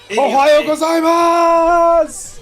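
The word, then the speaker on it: おはようございます: ohayo gozaimasu ohayo gozaimasu you can say it right you got to stretch that out ohayo gozaimasu breaking that streak of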